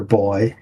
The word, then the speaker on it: buoy: Do you say buoy or boy for like those things that bob up and down in the water? That would be a boy.